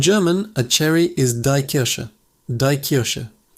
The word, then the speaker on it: Kirsche: In German, a cherry is die Kirsche. Die Kirsche. The ch sound here is soft, coming from the back of your throat. Kirsche. And sh is like osh in English.